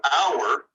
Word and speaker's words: hour: So with our, H is silent, and ow is a vowel sound.